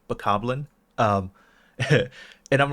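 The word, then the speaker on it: Bokoblin: Goblin it is yeah people say vocal blind and I'm like no it's bakoblin okay well yeah okay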